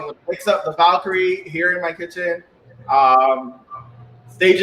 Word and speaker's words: Valkyrie: Am I pronouncing it right? It's called the Valkyrie? Valkyrie.